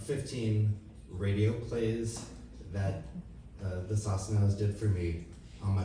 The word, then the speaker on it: Sosnow: I was an adult when I found out that Mickey pronounced his last name Sosnow.